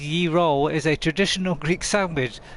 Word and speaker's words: gyro: Uh, but not often pronounced as ye roll is a traditional Greek sandwich.